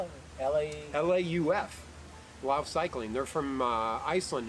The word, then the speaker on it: Lauf: How do you spell it? L-A-U-F.